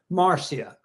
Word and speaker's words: Marcia: Yeah, Marcia. It's It's actually Marsha, but it's spelled CIA.